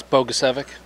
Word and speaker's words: Bogusevic: It's Bogusevic.